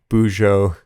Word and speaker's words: bujo: when he first said bujo i i don't even know if i'm saying it right but it's b u j o uh boujou boujou bujo however you want to say it but bullet journaling